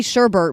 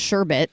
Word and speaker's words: sherbet: And then there's something that's like I say sherbet, but apparently it's pronounced sherbet.